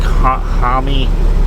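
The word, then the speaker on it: Jaime: The Blue Beetle, I know it's not Jamie, it's like Hami.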